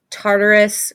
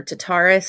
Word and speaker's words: Tartarus: beans or whatever um Tartarus or tataris I think is how you pronounce it Nyx Erebus and and